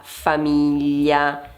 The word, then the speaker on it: famiglia: Nel secondo caso abbiamo la parola famiglia. Famiglia. Qui abbiamo tre sillabe e l'accento va su mi.